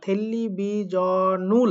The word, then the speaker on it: 텔레비전을: কি টেলিভিশন থাকলো না টেলিভিজনুল হয়ে গেল। টেলিভিশন থেকে উচ্চারণটা হয়ে গেল টেলিভিজনুল। বাট আগে টেলিভিশন মানে টেলিভিশন ছিল, এখন টেলিভিজনুল মানেও টেলিভিশন অর্থটাই থাকলো, বাট আগে উচ্চারণ ছিল টেলিভিশন, এখন উচ্চারণ হচ্ছে টেলিভিজনুল।